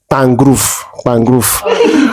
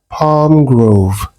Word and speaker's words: Palm Grove: So I remember the first time I was going to, they call it Pangrove, but it was a text and person was, I mean, it's spelled Palm Grove.